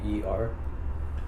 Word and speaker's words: Knower: Nor? Knower. It's Knower. Oh, yeah. I would never guess that's how you spell it. Like, it kind of sounds like noir, like Noir.